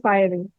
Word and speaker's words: fiery: This is one you write is fiery, but you say fiery.